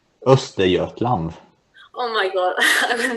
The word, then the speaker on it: Östergötland: Is how is it pronounced? Östergötland.